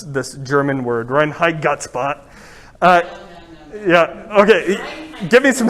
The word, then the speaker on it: Reinheitsgebot: I'm way too Irish to be able to pronounce this German word, Reinheitsgebot. Yeah, okay, give me some help. What is it again? Reinheitsgebot, great.